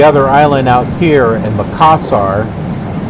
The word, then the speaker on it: Makassar: Okay, so that's how it's pronounced, Makassar.